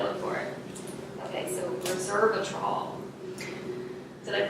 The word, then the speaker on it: resveratrol: Okay, so resveratrol. Did I pronounce it correctly?